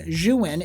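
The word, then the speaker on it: Zhiyun: of the room I actually recommend this company xuan it's spelled zh I Yu n they make a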